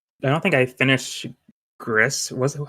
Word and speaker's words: Gris: don't think I finished Gris was how do you say grease Gris I think it's Greece gree okay or Tech hold on if I remember right it's G it's GRE yeah okay but uh yeah